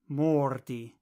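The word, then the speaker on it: mordi: order by the way the Esperanto word for two bite is mordy mordy imagine that Morty is trying to bite you Mordy so how do you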